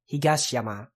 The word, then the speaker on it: Higashiyama: Mountain higashi is East but vowels like this tend to become whispered in compounds like this so the higashikata so I'm kind of applying that to the higashiyama it's probably pronounced like that probably most of the